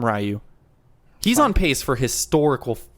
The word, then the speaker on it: Ryu: this but hyun-jin ryu ryu is how you pronounce his name but i've always call him ryu he's on pace for